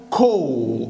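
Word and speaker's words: call: ها هنا هنقوله ايه في قاعده بتقول ان حرف الاي لما بيجي بعد منه حرف الال تتنطق او او خلاص يبقى دي يعني الايه هنا هتبقى شبيهه بحرف الاو نطقها زي نطق حرف الاو هتبقى كول اهي كول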